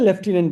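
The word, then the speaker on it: lieutenant: बी वाले ही है लटिनेंट है राइट बोला इसको क्या जाता है लेफ्टिनेंट बोला जाता है लेफ्टिनेंट लेफ्टिनेंट लेफ्टिनेंट हां हम बोलते ल्यूटी है लेफ्टिनेंट बोलते हैं टेनेंट लेफ्टिनेंट लूटिनेंट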